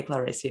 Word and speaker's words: Clarice: You, I don't know, do you think that you and Clarice or Clarissy, I'm still not sure how to pronounce her name. They you have say something Clarissy. Okay, Clarissy, okay.